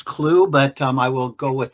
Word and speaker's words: Clough: I believe it's Clue, but I will go with that pronunciation for the.